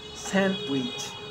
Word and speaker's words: sandwich: silent too wednesday handsome sandwich so i am not pronouncing the d in sandwich i am just pronouncing the consonant and sound therefore it take with